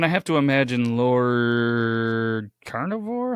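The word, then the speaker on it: Carnarvon: play yeah and I have to imagine Lord carnivore how do you say how do you say his his name again close it's Lord Carnivor he was the financial old Lord Carnivor all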